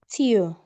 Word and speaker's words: tio: Tio.